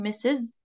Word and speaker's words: Ms: all the marital status okay uh we have MS and this is the pronunciation Ms Ms okay we pronounce it like this but